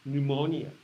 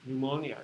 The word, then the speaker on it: pneumonia: this you don't pronounce you do not pronounce this p in in science you